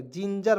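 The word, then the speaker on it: ginger: आर तो जिंग जिंजर जिंजर जिंगर नहीं पढ़ेंगे जिंजर पढ़ेंगे और जिंजर मींस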